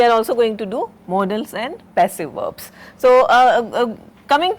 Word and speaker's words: modals: Now, there is another word that you or term you should be familiar with, that is modals, not pronounced not as models, but modals.